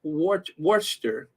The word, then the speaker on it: Worcester: oh really you used to work there it's pronounced Worcester Worcester Worcester Worcester Massachusetts okay thank you so